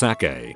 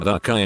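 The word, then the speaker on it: açaí: Show her that when it's properly spelled, the C is actually a cedilla, C cedilla, which changes the hard C to a soft C, which is pronounced like an S.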